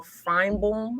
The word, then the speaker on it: Finebaum: But ESPN commentator Paul Finebaum, I don't know how to say his Finebaum.